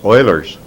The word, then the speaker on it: Euler: famous formula known as Euler's formula if you're curious Euler was a Swiss mathematician consequently it has the German pronunciation and the Euler's formula